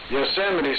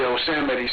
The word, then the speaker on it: Yosemite: You sit like you're sitting down in the chair.